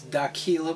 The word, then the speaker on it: Aquila: That's AQUILA with a Q, rhymes with tequila.